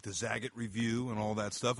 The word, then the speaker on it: Zagat: Zagat probably right so he called it it's the Zagat and so that's how I should have been saying it wrong all this time yeah I've been saying the wrong evidently for many years yeah yeah all right